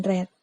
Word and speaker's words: read: ini sama read dan Reds Sebenarnya ini adalah sama-sama kata kerja nah jadi memang ketegori web Trinya dari kata read itu menulis hanya sama yaitu read tapi cara membacanya saja yang berbeda yaitu red sesuai kedua atau latihan